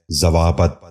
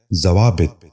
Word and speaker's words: ضوابط: ضیافت۔ نواں لفظ ہے ضوابط۔ یہ غلط تلفظ ہے، درست تلفظ ہے ضوابط۔ دوبارہ سنیے، ضوابط۔ بچوں